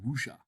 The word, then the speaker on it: Wuxia: We said Witcher. Like, there's Witcher films? No, there's a series on Netflix. No, Wuxia.